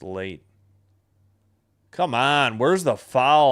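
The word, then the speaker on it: Leite: L E I T E but it's pronounced Late.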